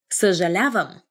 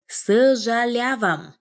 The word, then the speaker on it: съжалявам: Съжалявам. Съжалявам.